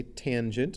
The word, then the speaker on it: tangent: the tangent we say we don't say tan we say tangent of angle a for